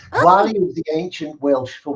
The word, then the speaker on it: Gwalia: It was Gualia? Yes, Gualia is the That's very That's very good pronunciation. Gwalia is the ancient Welsh